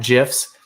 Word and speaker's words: GIF: They want to see cat GIFs. Yes, I pronounced it with a soft G.